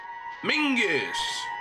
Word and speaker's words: Mingus: Mingus! It rhymes with dingus! What kind of name is Mingus? It sounds like dingus.